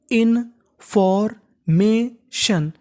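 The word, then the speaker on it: information: अगर आपको इंग्लिश में कहीं पर TION लिखा मिले तो उसे हमें पढ़ना होता है सन। क्या पढ़ना होता है? शन। तो मीनिंग बन गई इनफॉर्मेशन।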